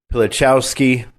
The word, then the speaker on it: Pilichowski: And did I get it right? Yes, you're perfect. Just like it's spelled. Just like it's spelled. Rabbi Pilichowski, also an Ole from, I believe, New Jersey.